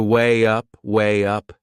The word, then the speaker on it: weigh up: There is another linking sound in that phrase. To weigh up, can you hear it? We insert a little Y sound.